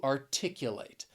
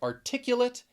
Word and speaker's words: articulate: you would say to articulate. So that final syllable, that is where the pronunciation is different. If you're using the adjective, articulate. If you're saying the verb, to articulate.